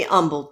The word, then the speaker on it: Humble: you need to be humbled sometime yes you do that's the most ridiculous thing yeah I don't know why you put a silent h in Humble but I'm not humbled